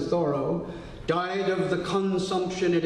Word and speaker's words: Thoreau: Going back to Sunday, Henry David Thoreau, it wasn't Thoreau, he pronounced it Thoreau, died of the consumption at age 46 in 1862.